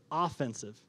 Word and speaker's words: offensive: Sorry, it's spelled the same way as offensive, so I got to stress it in how I say it. Offensive.